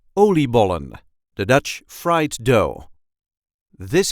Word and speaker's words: oliebollen: a regular Dutch accent oliebollen, the Dutch fried dough. This is how we say oliebollen. Oliebollen. There is a light emphasis on the first part of the word.